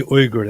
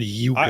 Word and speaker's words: Uyghur: How's he pronounce it? It should be Uyghur. That's just the right way. It's Uyghur. Uyghur. It's not I Yuga.